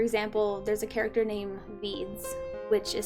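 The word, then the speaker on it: Vydz: like randomly for example there's a character named veeds which is spelled v-y-d-z just like random letters that i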